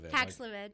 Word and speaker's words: Paxlovid: You know, I'm talking about, I think it's called Paxlovid. Did I say it right? Because they always have different names. You said it correctly. Paxlovid.